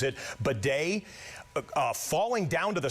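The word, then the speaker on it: Badie: spelled, it looks it looks like it says Baddy. B- A D I E, he pronounces it bad.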